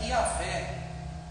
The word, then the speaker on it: Iavé: Para que a gente possa pronunciar, a gente coloca um A e um E, que fica Iavé.